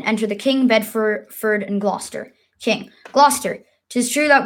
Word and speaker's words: Gloucester: scene 1 enter the King Bedford and and Glau Gossett love Chester King Klaus Esther I'm gonna need